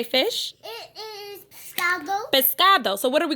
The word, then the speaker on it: pescado: Pescado. Pescado.